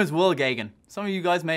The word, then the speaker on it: Geoghegan: Some of you guys may have seen my name written down, and there's probably a couple of redundant vowels in my name. So it's just Will Gagan. Very simple to actually pronounce.